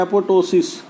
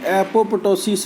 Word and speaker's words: apoptosis: या irreversible injury का दूसरा उदाहरण आप ले सकते हैं एपोटोसिस। ये स्पेलिंग बोलूँगा मैं, APOPTOSIS। आपको लगेगा कि एपोप्टोसिस है ये, लेकिन इसको बोलते हैं एपोटोसिस।